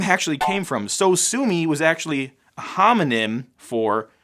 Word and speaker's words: Sosumi: So Sue Me was actually a homonym for So Sue Me, which is spelt differently. And that's actually the final name of the xylophone sound effect.